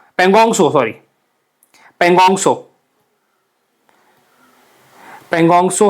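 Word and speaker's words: Pangong Tso: पोंगसो, पेंगोंगसो, sorry पेंगोंगसो, पेंगोंगसो है। और सोमोरारी है। सो आपको पता है टी तो साइलेंट होता है यहाँ पे।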